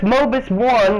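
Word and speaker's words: Mobius One: you speak the truth and even though it's mobus one that's how you pronounce it mobus one is an ace combat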